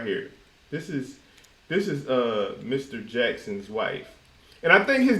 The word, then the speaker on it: Jaxn: Jackson's wife, and I think his name is actually spelled Jaxn because It's Jackson. on her page It's it's Jaxn. spelled out correctly. It's Jackson.